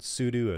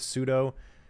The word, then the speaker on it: sudo: see what happens and you're going to hear people pronounce this differently it can be called Pudu as well too I go with pseudo just like Judo it's a little bit